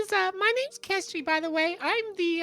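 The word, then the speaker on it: Kestri: worry um my name is uh my name's kestry by the way I'm the uh I'm the city planner can you spell that k-e-s-t-r-i I've taken notes no whoever laughed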